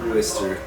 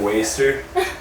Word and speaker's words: Worcester: How do you say it? Worcester. We're kind of like waster.